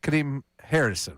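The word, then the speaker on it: Kadeem Hardison: Uh Kade Kadim Harrison, right?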